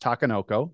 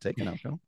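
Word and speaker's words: Takenoko: So we play things like, as I've been told, it's pronounced Takanoko, not Takanoko.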